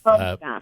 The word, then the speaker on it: Bojinoff: And how do I pronounce the last name? It's I believe it's Paula? Bojinoff. Bojinoff. Bojinoff, yes.